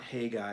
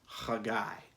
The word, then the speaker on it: Haggai: Um, Not Haggai, like I said on Sunday. The Hebrew actually should be pronounced Haggai.